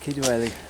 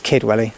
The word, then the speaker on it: Kidwelly: Just Kidwelly. I don't know, because it says it's pronounced differently. It's It's almost the same thing. Yeah, so it's Kidwelly.